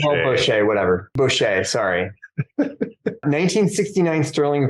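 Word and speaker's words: Bosché: It's pronounced Bochet. Bochet, whatever.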